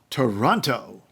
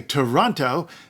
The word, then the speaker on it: Toronto: say Toronto they say if you say the second t-that's wrong you're wrong you're not from here you're wrong you're wrong you're wrong well guess what they're wrong my life was